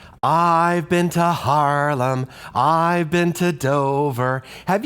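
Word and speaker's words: Haarlem: now I've Been to Harlem did you notice that the word is spelled a little weird h a a r l e m Harlem is a city in Holland and actually one of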